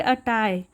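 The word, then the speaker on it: attire: हो गया पोशाक और यहां पर आर लगभग साइलेंट ही होता है तो इसे पढ़ेंगे अटाई उनके पोशाक तो उनके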